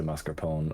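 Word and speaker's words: mascarpone: I always assume it was silent. Moser pony. And some people say mascar pone.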